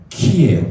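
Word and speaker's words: Χ: 예수수의 약자입니다 그 다음에 이게 x가 아니고 키에요 키 크리스토 크리스토스 원래 그리스도가 크리스토스예요 이게 x가 아닌 헬라어의 키입니다 키 읽을 때 키라고 읽어요 그래서 크리스토스예요 그래서 이게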